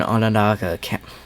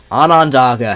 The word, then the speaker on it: Onondaga: County in north central New York, and northwestern Onondaga. Onondaga. How do you say that cleanly and quickly? Onondaga.